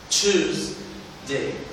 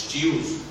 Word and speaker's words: Tuesday: Monday، Monday، Tuesday. في عندنا مشكلة في التي اسمها ت مش ط، مش تيوز. choose، Tuesday.